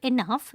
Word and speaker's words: enough: The word enough is pronounced to rhyme with the word puff.